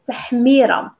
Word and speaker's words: تحميرة: So paprika is تحميرة. تحميرة. تحميرم. If you found this hard to pronounce, you can still add a vowel and it's going to give you that.